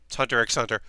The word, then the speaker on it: Hunter x Hunter: watching again Hunter hunter the X is silent Hunter x Hunter hunter hunter the 2011